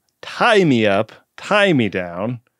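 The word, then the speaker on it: Tigh: Tie Me Up, Tie Me Down, spelled T-I-G-H. Now, this would have been pronounced quite differently on our first episode.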